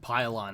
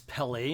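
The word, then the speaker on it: Pellaeon: office and so Captain I actually think his name is pylon I said it wrong it's Pele and I I guess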